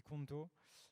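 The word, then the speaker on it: konto: Et il se trouve que compte, comme un compte bancaire en espéranto, donc la langue théorique européenne, ça se dit conto, sauf que ça s'écrit avec un K.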